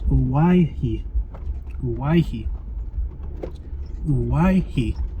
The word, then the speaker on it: Owyhee: the pronunciation of Hawaii I think I've been pronouncing it wrong in this video so my apologies for that I think I was saying kawaki but I just looked it up and it's why he so I'm gonna try